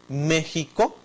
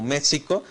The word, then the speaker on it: México: De ahí, por ejemplo, nuestra palabra eh México, entonces también que se escribe con X, no se podría pronunciar como México, sino también con esta letra J.